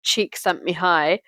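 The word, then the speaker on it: Csikszentmihalyi: he says in Brackets pronounce cheek sent me high although it's spelled like c z i k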